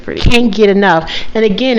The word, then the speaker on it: Kane Get Enough: exactly i like that i think it's pretty can't get enough and again it's spelled k-a-n-e g-e-t-e-n-o-u-g-h yeah i like it i